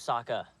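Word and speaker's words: Sokka: doing M was so cute hey my name's Saka rhymes with aa aa over there thanks for give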